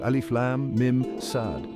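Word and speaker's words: المص: MIM sad LMS pronunciation pronounced as four distinct letters alif Lam MIM sad rhythmic impact adds a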